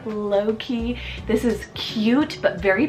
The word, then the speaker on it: Loki: L name here is Loki spell l-o-k-i low-key this is cute but